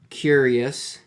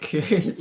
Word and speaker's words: QYURRYUS: today we are getting into a song called curious um by the voids it's spelled really weird it's like qy r r